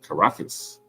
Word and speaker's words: Caracas: Caracas.